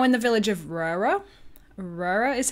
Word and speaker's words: Røra: Røra is how you say it.